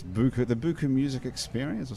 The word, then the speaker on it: BUKU: BUKU. Spelled differently. It's spelled not like buku in French, but it still says BUKU.